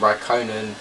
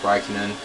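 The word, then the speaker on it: Räikkönen: Raikkonen, by the way, some people call him Raikkonen, but I believe it is pronounced Raikkonen.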